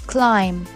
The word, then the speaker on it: climb: calm it's calm this way you will definitely pronounce climb no the bill is solid and it's climb climb some people like to climb tree climb